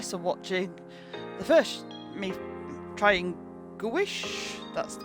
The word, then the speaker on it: gouache: I hope you enjoyed watching this and watching the first me trying Gouache. That's the pronunciation.